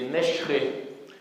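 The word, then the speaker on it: ܢܫܪ̈ܐ: Et donc l'accent tonique, il est sur le R.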